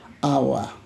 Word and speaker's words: hour: So, for example, H, it begins with H, hour begins with H, but pronounced as hour, therefore an hour, an honor, okay?